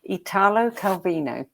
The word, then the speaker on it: Italo Calvino: invisible cities by and you can correct my pronunciation if you like italo calvino beautiful bonissimo that's how you pronounce it and